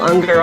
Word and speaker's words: Ungar: Unger on the show and I'm keep worrying I'm not saying your name right am I saying it right yeah you ng AR and it rhymes with hunger okay good I'm doing